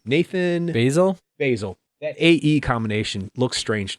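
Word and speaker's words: Baesel: Basil.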